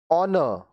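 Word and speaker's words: honour: ऑनर सम्मान। ऑनर सम्मान, यहाँ एच साइलेंट है, यहाँ डब्ल्यू साइलेंट है।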